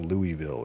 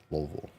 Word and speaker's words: Louisville: from Brian you don't it's not Louisville it's Lille that's how they say it lville lville Kentucky return to